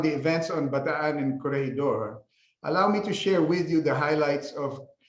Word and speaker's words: Corregidor: And Corregidor is a Spanish word, and the Filipino pronunciation is the same as the Spanish, Corregidor.